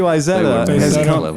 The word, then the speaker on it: Isetta: Isetta, it's just how you say it.